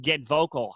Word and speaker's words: GetVokl: But what she taught us about was a thing called Get Vocal. Have you guys heard of this? No, I have not. Okay, so Get Vocal, it's spelled GETVOKL.